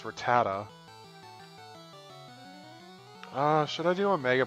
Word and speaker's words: Rattata: it's a stupid rat Rattata I used to convert ratatata I don't know why I did that cuz I saw how you say it's Rattata should I do a